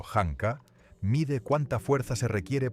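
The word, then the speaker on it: Janka: La prueba Yanka, pronunciado hankaa, mide cuánta fuerza se requiere para incrustar una bola de acero a la mitad en un trozo de madera.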